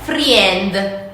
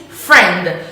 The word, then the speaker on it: friend: The majority of the Italian people tend to say friend. No, the correct pronunciation is friend. So the I doesn't have to be read.